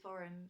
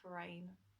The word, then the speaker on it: foreign: you know like the the pronunciation is actually foreign it's not for rain and I was like